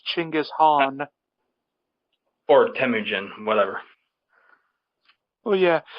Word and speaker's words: Chinggis Khaan: you get it wrong you actually said the name wrong it's not actually ginga's Khan it's Chinggis Khaan or Temujin whatever well